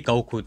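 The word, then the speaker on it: 五: right i said happy goku day i wasn't exaggerating when i said that goku is a national treasure the numbers five and nine in japanese are pronounced as go and cool respectively so as a result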